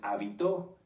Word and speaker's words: habitó: muchas definiciones de hecho si cambiamos el acento de la palabra hábito lleva acento en la a se refiere a esto a nuestras costumbres y si lo cambiamos hacia el final es habitó que viene de habitar fíjense que como en